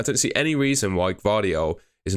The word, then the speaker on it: Gvardiol: numbers, Laporte's definitely on his way out, but Gvardiol, pretty sure is how you pronounce it.